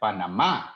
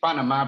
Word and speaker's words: Panamá: the name naturally well we pronounce it like panama in spanish and also it has an accent at the end in the in the last a but while there's a